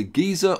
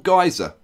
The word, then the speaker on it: geyser: I did check, and it can be pronounced as either geyser or geyser. It can even be pronounced geyser, and that is correct according to various dictionary sources. Geyser, geyser, or geyser. They're all correct.